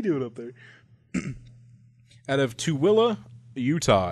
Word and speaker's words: Tooele: Out of Tooele, Utah, and Tooele is spelled Tooele. There's not a single W in there, but they have a pronouncer here that helps you.